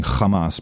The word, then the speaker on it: Hamas: and by the way I love pronouncing Hamas because that's how that's it's almost like Dutch Kamas and I can do